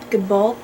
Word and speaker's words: Gabaldon: her name and i he said that the l is silent so diana good goodball good good gavin okay